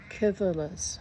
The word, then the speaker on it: Civilis: Civilis is pronounced I've been pronouncing it with a C is actually Kivalis.